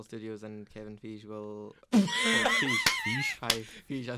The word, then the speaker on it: Feige: Feige, I said it wrong.